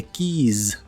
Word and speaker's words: keys: que significan las llaves la palabra Keys se pronuncia con la i larga o doble y al final con la z inglesa o s vibrante Porque si la pronuncias con la i cor y la s normal significa beso Kiss Kiss las llaves se